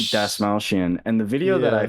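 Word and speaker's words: Dastmalchian: i was looking up how to say the actor's last name it's david dasmaushian and the video that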